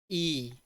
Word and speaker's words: y: how we pronounce it we pronounce it as e e so if suppose that